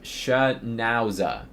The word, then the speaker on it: Schnauzer: Uh someone said it's pronounced shnower. Schnowzer.